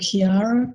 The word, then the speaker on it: Qiara: There is a product you can get, a probiotic product called Kiara, QI, it's not got the U in it, QIARA, I think it's spelled.